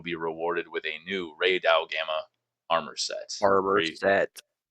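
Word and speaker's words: Rey Dau: Archetempered Ray Dow." Am I pronouncing that right?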